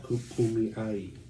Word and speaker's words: Kumeyaay: Kumeyaay. Did I say it right? Kumeyaay. Kumeyaay. Kumeyaay. Kumeyaay.